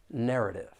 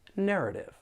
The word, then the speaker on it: narrative: For pronunciation, there are three syllables and the stress is on that first syllable. Narrative.